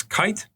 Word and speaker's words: Keith: German guy named Max Kite. Kite is actually spelled like Keith in English, but the German way you pronounce it is Max Kite.